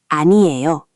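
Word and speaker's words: 아니요: The most common one is aniyo aniyo, which literally means "no" or "it's nothing." Four syllables.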